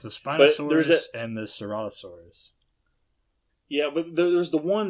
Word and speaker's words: Ceratosaurus: I think that was Creatorosaurus or something like that. Yeah, it's the Ceratosaurus. Yeah, Ceratosaurus. Okay, my bad. Yeah, I kept saying it wrong.